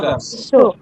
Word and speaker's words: garçon: pronounce as sir. Sir garçon.